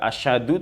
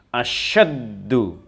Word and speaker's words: أَشَدُّ: Asyaddu, jadi tidak boleh dibaca asyadu tetapi asyaddu.